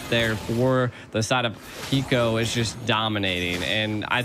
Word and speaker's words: Hiko: Hiko does it again, G. Oh my God. You know, Hiko's name's almost like Aiko, but spelled with an H, and I love it.